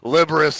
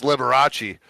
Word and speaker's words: Liberace: just pronounced that liberus and it's Liberace all right I mean